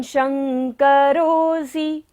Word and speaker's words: शंकरोऽसि: त्वं, त्वं शंकरोऽसि, तालव्य श है, तालु से हमें उच्चारण करना है।